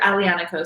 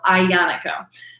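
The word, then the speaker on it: Aglianico: is his entry tier alianaco so that g of the grape is silent so it's just alliance some people would even make the l silent as well so ionico that's kind of a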